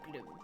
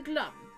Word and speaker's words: Glum: name is Gloom prosecutor Gloom would you just call me glum glum yeah glum not Gloom Gloom would be too O's I'm horrible pronunciation if